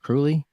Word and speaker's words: Kruly: going to empower your essence with Dr Rex cruy is is it cruy it is all right I pronounced it right founder of depth healing technology